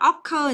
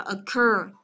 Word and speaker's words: occur: Rồi chúng ta có occur, từ này đừng đọc là occur, nhớ chưa? Mà đọc là occur. Occur âm thứ hai, tiếp